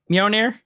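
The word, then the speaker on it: Mjölnir: I can never pronounce it. Is it Mjolnir? Meow meow. Meow meow. What's going on, meow? Mjolnir?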